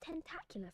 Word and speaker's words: tentacular: That's the pronunciation of that word. Tentacular. Ta. That vowel sound is the same we find in words like cat. For example, tentacular. Tentacu. L. It ends with a schwah.